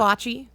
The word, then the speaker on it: foci: It's Fachi. Fachi, of Yeah, course. of course Yes, it's Fachi. We have a straightforward statement of one of the core Fachi of.